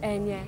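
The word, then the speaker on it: Eithne: name yeah it's Ana it's e but it's pronounced Ana in Irish Ana and now an Anya but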